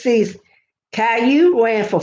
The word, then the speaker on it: Caillou: Aimed at the toddler and preschool set, Caillou is an educational show that stars the 4-year-old title character, pronounced Caillou, who lives with his mother, father, and sister in a blue house on Pine Street.